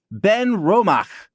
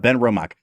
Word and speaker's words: Benromach: they have the uh the CH at the end of Ben romach is like aspirated it's not quite as